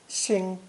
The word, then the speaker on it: 星: This new character is pronounced first tone, xing, xing, and means star or planet.